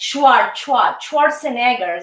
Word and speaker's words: Schwarzenegger: Yes, Schwarzenegger. This is the pronunciation.